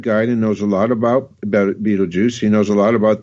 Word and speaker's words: Betelgeuse: Yeah, Betelgeuse.